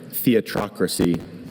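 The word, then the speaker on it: theatrocracy: Just the one. Theatocracy.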